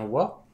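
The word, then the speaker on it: は: la première éant o que l'on écrit avec leilagana mais que l'on prononce bien wa qui permet de faire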